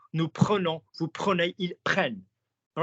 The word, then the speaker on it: prennent: Then you're going to go prenons, prenez, prenne, that rhymes with 10.